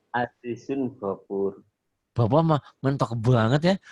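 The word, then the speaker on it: عزيز غفور: Go Azizun Gofur. Azizun Ghafur. Bapak mah mentok banget ya. Azizun Gofur. Bacanya jangan baca pakai dialog Jawa, Pak. Oh, iya, Pak. Azizun pakai dialog Quran gitu.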